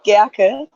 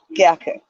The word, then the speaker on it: Gercke: Pronounce it Gercke, Gercke. Oh my goodness. I was so off. I'm sorry. That's okay. It's a German name, so it's not easy.